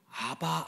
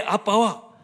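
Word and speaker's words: אבא: 또는 아빠 아버지라고 부르셨어요 전에 사용하던 개혁 성경이 아바 아버지라고 번역돼 있는데 히브리어 발음으로는 아빠입니다 우리 말의 아빠와 그 발음과 의미가 정확하게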